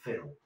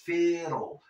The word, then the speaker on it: fiddle: Pues la vas a pronunciar como lo que es fiddle. Pero te la vas a comer un poco.